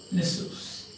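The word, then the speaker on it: Nisus: Pronunciation is Nessus.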